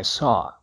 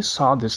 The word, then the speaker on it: saw: do W No final a pronúncia correta é só como em eu estou só isso ocorre em várias